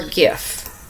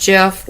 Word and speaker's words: GIF: dictionary accepts both pronunciations they are wrong it is a soft g pronounced gif the creator of the jiff said it's pronounced jeff end of story there